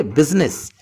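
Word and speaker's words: business: ए इसमें साइलेंट है जैसे ये वर्ड है बिज नहीं कहा जाएगा इसमें आई साइलेंट है इसे कहेंगे बिजनेस तो फ्लो में बोला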